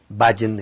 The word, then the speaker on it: Bhajan: Yogi se escribe Y-O-G-I, Bhajan es B grande H-A-J-A-N, Bhajan.